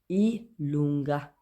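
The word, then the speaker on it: i lunga: जे को बोलेंगे ई लूँगा, ई लूँगा।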